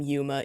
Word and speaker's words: Yuma: either girls or boys in the Japanese language it's frequently written and pronounced with a long vowel sound but when it's transliterated